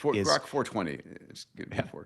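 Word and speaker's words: Grok 4.20: But based on what I've seen thus far, Grock 4.20 or however we pronounce it, Grock 420, Grock 420, it it's it's not the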